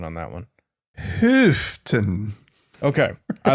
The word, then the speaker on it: Houghton: What's your pronunciation on that one? Houghton.